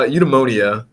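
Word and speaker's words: eudaimonia: lot of practice with it um it's uh eudemonia okay um yeah basically it just means it's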